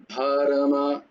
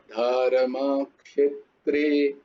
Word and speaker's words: ধর্মক্ষেত্রে: আকারের মতো নয়, ধর্মা নয়, ধর্ম, মা, ধর্মও নয় ধর্ম আবার ধর্মাও নয়, ধর্মা ধর্মা ক্ষেত্রে, ক্ষেত্রে নয়, বলো ধর্ম ধর্ম ক্ষেত্রে, ধর্ম ক্ষেত্রে ক্ষেত্রে নয় ক্ষেত্রে, ধর্ম ক্ষেত্রে, ক্ষেত্রে ধর্মক্ষে, ধর্মক্ষে, জিভটা